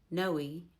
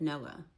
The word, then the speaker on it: Noah: That one I'm not really even sure if it's actually pronounced Sina because I've never heard it pronounced that way. So you guys tell me. Noe instead of Noah.